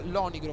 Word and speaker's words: Lonigro: Lonigro 17, anzi attenzione che mi ha corretto, il mio nickname si pronuncia Lonigro con l'accento tonico sulla io, come se dicessi Lonigro.